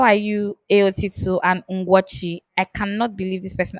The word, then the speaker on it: Ugochi: My name is Ugochi. It is Ugochi. And He for people mother who evil. follow me, He butchered the spelling.